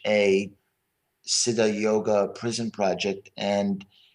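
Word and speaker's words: Siddha: with is called the Sid yoga prison project is spelled s d d ha Sida yoga prison project and it's been going on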